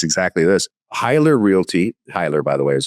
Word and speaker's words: Heyler: Hyler Realty, Hyler by the way is how it's pronounced.